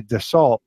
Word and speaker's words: Dassault: fly that brand, and they told me that it's pronounced Dassault. Can't even hear the L, but definitely the T is silent, like the P in swimming.